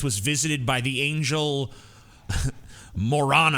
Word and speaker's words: Moroni: So in 1823, 3 years later, Smith was visited by the angel Moroni. I think it's actually pronounced Moroni, but it's more fun to say Moroni.